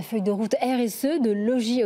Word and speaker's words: Logis: de route RSE de Logis Hôtel on va éviter prononcer le S j'ai bien compris vous